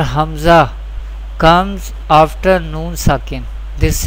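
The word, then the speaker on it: همزة: Hamza Ha pronounced from the bottom part of the throat.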